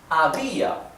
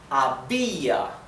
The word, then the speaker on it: había: Había, the accent is on the letter I, on the vowel I.